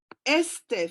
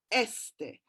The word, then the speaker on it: este: So este, for example, has got the emphasis on the first syllable, este.